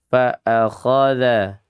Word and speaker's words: فَأَخَذَهُ: Isti'la tinggi lidahnya dinaikkan. Fa'akhadha, khadha. Begitu ya. Bukan fa'akhadha, tapi dha.